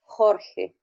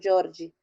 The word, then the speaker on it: Jorge: Bom, é, no espanhol, o nome do meu filho é Jorge. No Jorge, português, no português falaram que se pronuncia Jorge.